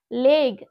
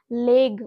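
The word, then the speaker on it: leg: লেগ, এখানেও দেখো ওয়ার্ডের একদম লাস্টে জি কে বসানো হয়েছে। তো দ্যাটস ওয়াই আমরা এখানে লেগ বলবো।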